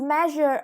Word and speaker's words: measure: Next, measure is a verb with the first syllable stressed, and its meaning is to discover the exact size or amount of something.